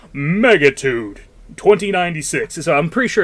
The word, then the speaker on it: Megatudo: Now, it's it's spelled Megatudo. I think it's actually Megatude, though, cuz whenever you start the game, there's literally like an Optimus Prime voice that kicks in and it literally goes Megatude 2096.